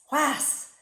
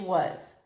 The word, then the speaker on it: was: And more importantly, was would not be sounded out the way it looks. You would say was. That's not it. It's was. It's W-U-Z if you were spelling it phonetically.